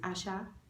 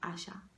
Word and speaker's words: Asa: My favorite song currently is Asha, not Asha like. Yeah, not that guy. Asha. It's her name is pronounced Asa, A-S-A, but it's pronounced. Her name is spelled Asa, but it's pronounced Asha.